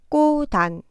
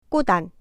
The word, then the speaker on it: 꽃안: 첫 번째 글자 꽃의 받침 치읓이 디귿으로 발음되겠죠? 그렇게 바뀐 글자의 받침 디귿이 뒤에 오는 글자의 자음 자리에 와서 발음됩니다. 꼬단, 꼬단.